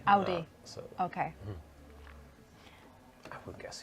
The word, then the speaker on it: Audi: How do you pronounce Audi? Is it In German, it's Audi. Audi?